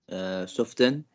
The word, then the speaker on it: soften: Soften. Yes, we pronounce it soften. T is silent.